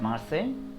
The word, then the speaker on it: Marseille: it is marseille so don't get confused it's marseille we see we simply say merciless it is mercy so let us begin